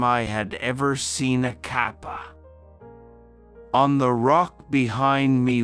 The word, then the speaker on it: Kappa: Kappa please pronounce it as Kappa runos suawa here are